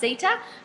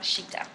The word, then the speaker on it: Citta: It's from um the homeware store cheetah or I think it it looks like it should be pronounced sitta but it's actually pronounced cheetah.